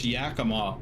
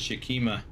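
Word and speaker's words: Yakima: it's spelled Spokane um a lot of people mispronounce Yakama also some people pronounce it as shakima Shima yeah I got a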